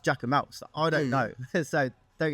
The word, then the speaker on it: Jacquemus: Apparently, it's pronounced Jacquemus.